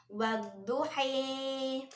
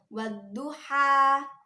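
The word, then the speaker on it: والضحى: Kan aslinya itu wadduha. Nah, karena diimalahkan menjadi wadduhi. Karena memiringkan harokat fathah kepada harokat kasroh. Sehingga bacaannya menjadi kayak gitu.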